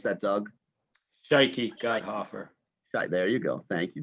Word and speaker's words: Shikey Gotthoffer: Oh, how do you pronounce that Doug? Shikey Gotthoffer.